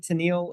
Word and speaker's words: Tennille: to say, am I pronouncing it right? Tennille, is that correct? Yes, if you've ever heard the band Captain and Tennille, that is what I am named after.